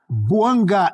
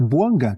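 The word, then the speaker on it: Bouanga: Buanga e Giru na temporada pelo Los Angeles FC. Giru, campeão do mundo, 17 jogos, três gols e duas assistências. E tá certo a minha pronúncia? É Boanga que fala, né?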